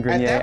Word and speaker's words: Grenier: name is for you hi my name is adrian grenier i'm an actor just admit you were wrong call him adrian garnier and move on and